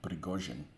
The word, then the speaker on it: Prigozhin: Prigozhin. That's how I would say it.